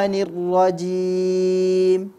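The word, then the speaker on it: الرجيم: tadi membacanya ya nah pelafalan kasrah pada Ta'awudz ada yang kurang tepat nirrojim sering sekali kita mendengar orang yang kasrahnya itu terpengaruh dengan huruf ra bacanya menjadi Nur mendekati dhomah seperti itu saya mendengar ke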